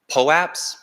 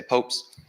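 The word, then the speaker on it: POAP: represented on the blockchain and they're unique uh po apps that's how I pronounce it that's tell the company that creates them calls it but there's lots of pronunciation lots of people say popes um it just stands for proof of attendance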